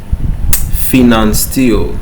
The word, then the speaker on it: Pfannenstiel: Finance steel. All right. The P is silent. Okay. Finance steel. Fen steel in incision.